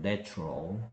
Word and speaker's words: natural: 근데 뭐 여기서 알아둬야 될 거는 뭐냐 하면은 A의 발음이 달라진다는 점입니다. 얘는 A가 뭐 발음 영어 발음기로 하면 이렇게 발음 나고 있죠. Nature. 근데 얘는 뭐 발음 기호는 이렇고요. 뭐 이거 굳이 한글로 쓴다면 이런 발음이죠. Natural이죠. Natural. 그래서 A의 발음이 얘는 Nature인데 얘는 Natural 된다는 거. 그래서 A의 발음이 달라지는 것도 꼭 알아두세요.